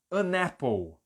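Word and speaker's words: an apple: é aí eu vou emendar e vai ficar annapple olha como eu tô emendando o n tá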